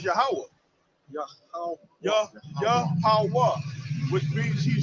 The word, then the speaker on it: Yahweh: now, when you said it in the Paleo Hebrew, like how is it supposed to be pronunciated? It's Yahweh.